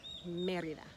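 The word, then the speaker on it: Mérida: in merida we're in merida so we won't put the emphasis on the eye or even the a only the e because that's where the accent is in the word merida merida and another state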